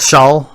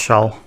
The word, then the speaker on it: Schaal: Isn't it Shaw? I think it's pronounced Shaw. it depends.